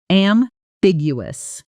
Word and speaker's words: ambiguous: The stress lands on the second syllable, and that middle section often gets mangled by learners trying to pronounce every letter. Break it down. Am-big-you. Slowly. Ambiguous.